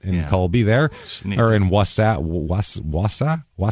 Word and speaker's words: Wausau: Or in Wausau? How do you say that? Texas? No, Wisconsin. Wausau.